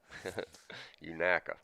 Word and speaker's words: Unaka: and unicy County unaka what was we calling it for three years Unica unuka unaka yeah I think that's the correct way to say it I got busted on